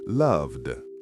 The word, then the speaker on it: loved: Love ends with a V sound, which is voiced, so loved is loved.